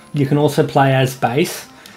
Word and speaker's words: Bass: can also play as Bas I imagine some people probably pronounce that bass but I think bass just sounds better um so you can